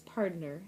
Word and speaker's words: pardner: And instead of P-A-R-T-N-E-R, partner, it says pardner, and it makes it so you're supposed to say it like a cowboy.